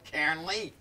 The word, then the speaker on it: Cairnlea: We're going to Cairnley Park Primary School. Did I pronounce that right? Cairnley?